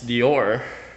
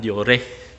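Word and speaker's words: Deore: Actually, ang tamang pag-pronounce yan is Dior. Pero syempre, alam na this. Nakasanayan natin ang Diore.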